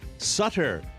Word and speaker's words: Sutter: ohio sutter creek california sutter if you don't know rhymes with butter uh any wine drinker